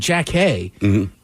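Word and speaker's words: Jackée: that I was like I know it looks like Jackie but like that was how you pronounce that's how she says her name yeah so good times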